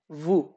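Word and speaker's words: vous: তু অথবা ভু। ভু এখানে সর্বশেষ যে এস বিদ্যমান এটাকে সাধারণত উচ্চারণ করা হয় না।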